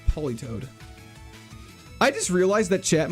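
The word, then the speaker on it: Politoed: Peel O Toad. It's Poly Toad.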